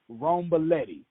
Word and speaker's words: Romboletti: me Pony Patricia now make sure I got this right wrong Belletti did I get it right let's see one syllable at a time see right that's exactly right see I've been stalking